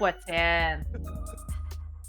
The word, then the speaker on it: poutine: It's what's in. Yeah, so That's a weird way to say poutine. Oh that's a weird way to say. No, it's not. No, that's how you say it in Quebec.